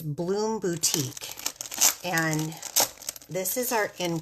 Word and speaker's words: Bloom Boutique: This is called, now I've been pronouncing this wrong. It's Bloom Boutique.